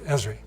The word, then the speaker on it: Esri: they make while they're starting a company I pronounce it Ezri recently Forbes famous American magazine reported history as